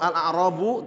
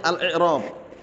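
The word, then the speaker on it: الإعراب: Kalau al-a'rabu jamak dari a'rabiyun badui. Bacanya bukan al-a'rab tapi al-i'rab.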